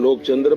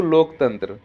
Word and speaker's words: लोकतंत्र: अरे मोदी जी उच्चारण में थोड़ी सी मर्यादा रखिए, नहीं तो लोकचंद्र बर्बाद हो जाएगा। अरे लोकचंद्र नहीं प्रभु, लोकतंत्र।